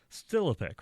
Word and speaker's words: Stilipec: So, with me, I have Jay Stilipec, right? That's correct. Good job. A lot of people mispronounce my last name, so I understand.